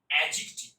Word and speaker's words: adjective: এ ডি জে থাকবে, এ ডি জে, এইরকম দিয়ে যখন কোন ওয়ার্ড শুরু হবে তখন এই ডি এর উচ্চারণটা আমরা করবো না, সাইলেন্ট করে দেবো। তাহলে আমি উচ্চারণ কি করবো? অ্যাডজেক্টিভ।